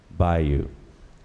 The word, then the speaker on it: bayou: The word is bayou, also pronounced bayo. The word, though, is primarily pronounced bayou.